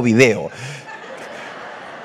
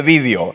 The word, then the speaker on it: vídeo: se dice vídeo o video. Pero hoy ganamos esta pelea y se dice vídeo. Acento en la I, aunque no haya que ponerlo.